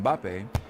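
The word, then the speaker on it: Mbappé: the same reason that when English commentators talk about the French footballer kylian mbappe they often find themselves inserting a third syllable to make it more pronounceable it's because in English starting a word with an m and a b next to each other is just not done so people find themselves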